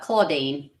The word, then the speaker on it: Claudine: Is it Claudine or Claudine? I can't pronounce her name. It's Claudine.